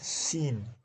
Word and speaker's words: scene: Scene, c is silent.